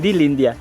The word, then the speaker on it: Lindia: Lindia? Sa pag-pronounce, Lindia.